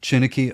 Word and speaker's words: Chineke: You need to help me with this orchestra again because I always mispronounce it. Chineke.